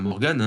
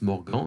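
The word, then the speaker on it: De Morgan: lois de mordant alors ça pourrait dans morgan mais non ça se prononce mort grand il s'agit d'un français donc soyons soyons franchouillard hommes et ce qu'il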